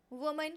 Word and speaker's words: women: इन दोनों का प्रोनाउंसिएशन बिल्कुल डिफरेंट होता है, ध्यान दे लीजिए, इसको रिवाइज करिएगा। वुमन एंड वेमेन, जब भी आप इसे यूज़ करो सही प्रोनाउंसिएशन के साथ यूज़ करो।